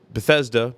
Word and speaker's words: Bethesda: Regency in Betha be Bethesda Bea Bethesda Bethesda Maryland Bethesda Maryland Bethesda Bethesda not Bethesda it's not a long e it's a a short e Bethesda so what do